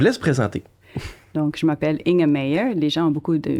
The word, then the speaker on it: Inge Meijer: Donc je m'appelle In a Mayer. Les gens ont beaucoup de mal à prononcer mon nom.